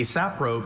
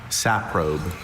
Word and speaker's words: saprobe: Saprobe. Saprobe. kind of the origin. Uh, this word was formed from originally Greek elements. Saprobe. Any alternate pronunciations? Just the one.